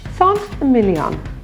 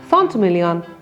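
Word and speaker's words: Saint-Émilion: Saint-Emilion. Saint-Estèphe. Saint-Julien. Three very famous French wine producing appellations. You'll notice that for Emilion and Estèphe, the T is pronounced. That's because it's in front of a vowel.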